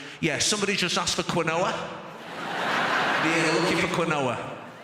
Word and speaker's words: quinoa: Quinoa, very interesting quinoa, because it is spelt one way, but it is pronounced a very different way.